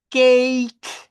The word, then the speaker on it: cake: Palabra en inglés que termina con E, la E no suena. Entonces, la E aquí no existe. Al pronunciarla, sí al escribirla, pero no al pronunciar. Por eso suena cake con la K. Por eso esta suena face con la S al final.